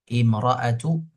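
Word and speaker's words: امرأتُ: Imra'atu. Ini dibacanya kalau tanpa wa. Ini kita hapus wa-nya. Ini bacanya i. Imra'atu.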